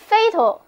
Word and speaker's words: fatal: 他肯定是死了。下面我们把 fate 后面的 e 去掉，加上 al 形容词后缀，这个新的形容词 fatal，第二个 a 不发音，读作 fatal，跟我念一遍 fatal。